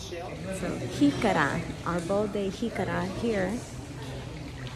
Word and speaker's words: jícara: Jícara. Jícara. We spell it J-I-C-A-R-A.